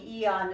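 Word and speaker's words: Aeon: Um, that patch, the E on, it's spelled AE, E O N, it's for brain balance and anti-inflammation.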